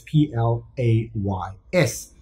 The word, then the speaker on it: plays: P-L-A-C-E, but this is P-L-A-Y-S. So because of the vowel, the S is pronounced as a Z.